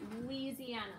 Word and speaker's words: Louisiana: Your name is in there, Louis, but we don't pronounce it that way. We say Louisiana. So I'm Yeah, not Louisiana.